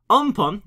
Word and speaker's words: Amphan: see right here a very severe cyclonic storm on pump as practially how it's pronounced over central and southern areas of the